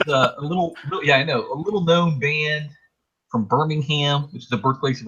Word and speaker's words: Birmingham: Our next band is a little known band from Birmingham, which is the birthplace of a lot of good bands. Birmingham, UK. You gotta say it like geezer, Birmingham.